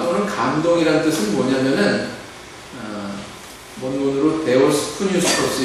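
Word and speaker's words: θεόπνευστος: 감동이란 뜻은 뭐냐면은 문으로 데오스 스토스 이렇게 발음을 하는데 그 뜻은 신의 바람을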